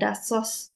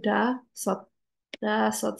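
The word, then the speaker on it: 다섯: Tapi ingat, kalau S ada di bagian bawah, dia berubah jadi T atau D. Jadi da sot. Instead, bukannya dasos, tapi da sot sal, oke, penulisannya seperti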